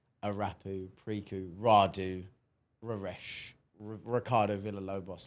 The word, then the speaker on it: Arapu: Even me, they say I'm minimal, which I don't think I am, because Arapu, that's how you pronounce it.